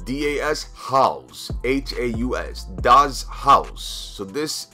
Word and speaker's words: Das Haus: to map number nine map number nine is pronounced das haus haus does house so this is like a